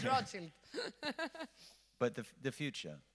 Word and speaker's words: Rothschild: That's why the Rothschild, I have another pronunciation. It's Rothschild.